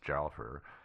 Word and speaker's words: Guildford: No, there's that town just to the northwest of where they found the car, and it's spelled Guildford, but if I know the British, it's pronounced Jalfur.